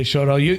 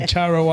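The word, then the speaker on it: Chorão: husband, by the way, he doesn't say Shorao. You say it like a true Goan, but your husband can't say Shorao. He's always going to Charo Island.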